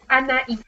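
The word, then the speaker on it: Anaïs: Is it Anais? Anais, just like the Spanish way, kind of.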